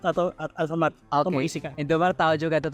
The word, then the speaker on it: Indomaret: Jadi waktu aku di situ harus pergi ke Indomaret atau Alfamart untuk Oke. mengisikan. Indomaret tahu juga tuh. Tapi itu bukan Indomaret aja saja kan? Indomaret iya. Tapi kayak pronunciasinya cuman gitu kan? Indomaret.